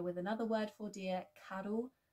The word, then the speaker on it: carw: be more familiar with another word for deer, carw, carw.